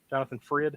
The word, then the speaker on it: Jonathan Frid: Jonathan Frid?